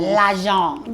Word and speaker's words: L'Agence: So my jacket and my pants are, you might need to help me with the pronunciation, but L'Agence. L'Agence. L'Agence.